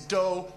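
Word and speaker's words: dó: Two is doe. Doe is two.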